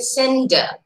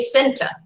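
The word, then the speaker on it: centre: kerala i mean the the n and t the consonant cluster they're very soft they pronounce the word very softly it's a sender they don't say center c-e-n-t-r-e how do we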